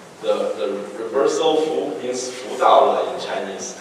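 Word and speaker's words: 福: And death symbol is meaning the good luck in China, in Chinese, and that's pronounced like Fu.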